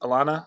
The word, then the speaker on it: Alannah: is it alana arnett is that how you pronounce it alana yeah alana alana so she's four and one